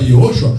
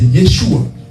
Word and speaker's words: Yeshua: Déjà en hébreu, Jésus ce n'est pas Yehoshua, c'est Yeshua.